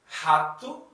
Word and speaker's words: rato: So we pronounce, for example, rato. Rato. It means mouse.